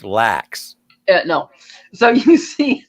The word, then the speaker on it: LAX: completely built up everywhere the cat cat it's pronounced lacks yeah no so you see that it's like